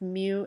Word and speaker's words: mu: So this is pronounced mu s, or the coefficient of static friction.